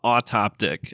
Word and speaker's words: Autoptic: do I say it you say it like a autoptic I didn't pick the